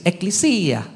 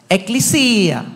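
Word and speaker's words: ἐκκλησία: भाषा का, ग्रीक से एक्लिसिया, और जो यूनानी लोग है वो एक्लिसिया। Say it like this. एक्लिसिया. बोले एक्लिसिया. Come on guys. एक्लिसिया. We are teaching you the right pronunciation.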